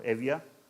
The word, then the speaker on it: Evia: It is located on a second largest Greek island, this whole thing here, called Euboea, if you prefer classical pronunciation, or Evia in modern Greek.